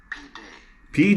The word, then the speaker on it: pide: Pide.